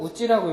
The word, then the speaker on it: 家: 日本では家でも 여기서는 이에라고 읽어도 되고 우찌라고 읽어도 상관없죠.